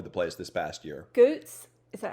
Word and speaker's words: Goots: Goots.